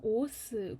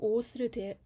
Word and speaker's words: OAuth: 이번에 미니 컨퍼런스로 오어스 구형기에 대해서 발표를 하게 된 이은비라고 합니다. 반갑습니다. 네, 우선은 이제 목차는 다음과 같고요. 오어스라고 읽으시면 되고, 첫 번째로는 개요, 두